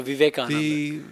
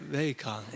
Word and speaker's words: Vivekananda: No, Swami, they say Vivekananda, but you say it differently. Well, Vivekananda. How you? I would emphasize the second syllable, so Vivekananda. Vivekananda.